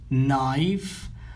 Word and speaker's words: knife: Knife. هنا لا ننطق حرف K عندما يأتي بعده N. Okay. فقط نقول knife. نبدأ من حرف N.